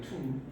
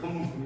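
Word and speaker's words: tomb: 이때 비가 발음이 돼야하는데 안 됩니다. 천마툼이에요. 그래서 우리가 영어에서 림, 콤, 클라임, 밤 이런 게 전부 다 비가 발음이 될까 안 될까요? 안 되는 겁니다.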